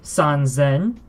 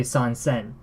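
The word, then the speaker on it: 三千: It is easier to say sanzen than it is to say sansen.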